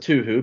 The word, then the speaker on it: Touhou: well first of all it's okay if you want to pronounce it too who because that's a good meme oh and uh uh